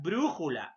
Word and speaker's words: brújula: como el caso de la palabra brújula ahí está no la mayor fuerza de voz ante penúltima sílaba y tienes en este